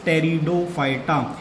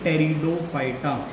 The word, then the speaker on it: Pteridophyta: तो spore formation वाली जो थर्ड क्लास है, डिवीजन है, दैट इज टेरिडोफाइटा. आपको ध्यान रखना है यहाँ पे जो पी है वो साइलेंट है, तो इस डिवीजन को हम बोलेंगे टेरिडोफाइटा.